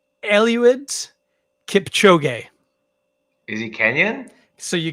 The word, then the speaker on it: Eliud Kipchoge: I believe it's pronounced Eliud Kipchoge.